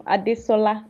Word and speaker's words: Adesola: First of all, I'm Adisola. That is how it is pronounced.